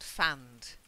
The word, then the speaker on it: fanned: to fan the flames and fanned silent e sound that's it yeah to